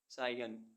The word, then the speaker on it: scion: SCION सायन, सायन means वंशज। ऐसे words जिनमें अल्फ़ाबेट डी साइलेंट रहता है।